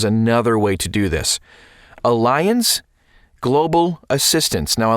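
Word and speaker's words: Allianz: way to do this Alliance Global assistance now Alliance is is spelled a l l i a n z Global assistance sure bonsa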